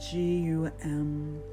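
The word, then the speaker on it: Gam: a sacred sound gum spelled g om butts pronounced G um begin with the practice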